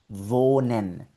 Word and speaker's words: wohnen: Bueno, ahí la historia es muy diferente porque si la H la ves seguida de una consonante, es completamente muda, no suena en absoluto. Aquí, por ejemplo, vemos la H en esta palabra Pero ves que después de la H hay una N. Ahí no suena nada.